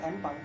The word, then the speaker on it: Pang: Secara bunyi Empang itu seperti I am Pang. Iya, empang. Pronunciation-nya seperti itu ya. Berarti marginal itu pang, P-A-N-G, bukan P-U-N-K ya.